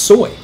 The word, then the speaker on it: SOI: the sensor of interest soy which you'll sometimes hear pronounced soy now in the 18